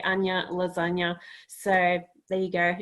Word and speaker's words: Anja: no my name wrong now pronounced anya so being from germany the jade is pronounced differently but i keep saying your last name wrong even though i think all right so it would be uh anya not anja exactly so yes we both